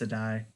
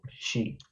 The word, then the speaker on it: Sidhe: It's like from Oh, Gaelic. I thought it was pronounced Sedai. No, she. It's Gaelic, so it doesn't make sense.